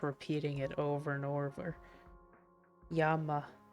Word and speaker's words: llama: Yama, Yama? What? I thought it was llama. Have I been wrong? Yeah, yeah, Bucky. Yama. Oh, Really? Llama is Yama?